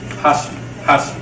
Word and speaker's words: hashi: So this is called hashi, which means chopstick.